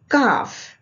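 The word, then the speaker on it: calf: काफ, काफ means young of अ काउ और elephant, the back of the lower part of लेग।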